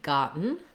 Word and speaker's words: gotten: so looking at gotten the stress in the word gotten is on the first syllable and letter o says ah so typically uh when we have an o in a stressed syllable in american english most of the time it's going to be the ah vowel so i've rewritten that for you here with the letters a h so you can visualize